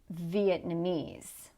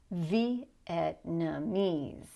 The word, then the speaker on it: Vietnamese: Now notice in a long word like this that there are actually two stresses. So we're going to have a small stress earlier in the word. Listen, Vietnamese. Vietnamese. Okay? So there is a small stress on the first syllable. Don't worry about it. The important thing is that you get the big stress on this suffix at the end.